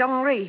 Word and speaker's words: Henri: He pronounces it Henri.